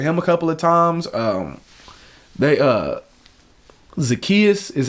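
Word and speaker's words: Zaccheaus: Zacchaeus is how you say his name.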